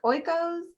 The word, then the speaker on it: Oikos: Is it Oikos?